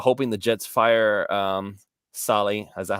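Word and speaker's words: Saleh: on Twitter about hoping the Jets fire um Sally is that how you say it Sally Sally Robert Soleil yeah Robert Sala okay so and we hire him as defensive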